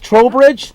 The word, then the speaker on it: Trowbridge: And Trowbridge, is it pronounced right? Trowbridge? From Florida. From Florida. Now, that's not like a troll under a bridge, right? No.